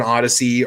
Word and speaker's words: Odysee: Kingpin's over on Odyssey. Are any of you other guys over on Odyssey? Single Shot, are you on Odyssey yet, or Rich White?